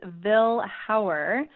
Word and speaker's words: Vilhauer: out are gonna get it right it is Ville how're Joel comm that used to call me